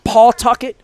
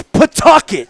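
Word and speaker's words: Pawtucket: PA socks before yeah I always pronounced it wrong I I I I would call it Paul Tucket because that's how I learned how to say cuz you know when Cal Ripken played the 32 inning game it was in PA Tucket and my wife would say it's Pucket yeah it's not paet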